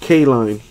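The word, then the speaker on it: Kline: So his last name is pronounced K-line. Got it.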